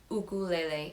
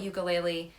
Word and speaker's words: ukulele: to note is that the official pronunciation of this instrument is ukulele it is a Hawaiian instrument but here we call it ukulele or uke and that's